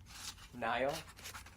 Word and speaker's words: Niall: Wait, me and her did like the same guy, Niall? Niall James Horan. Yes. Do you ever pronounce it Neil sometimes just to piss off people who like him?